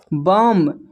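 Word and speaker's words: bomb: यहां पर म होगा बम बम में भी बी साइलेंट है।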